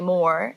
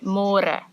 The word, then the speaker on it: môre: It's a little bit easier, but you have to remember to read môre, because in English it's spelled like more. So don't say more, say môre.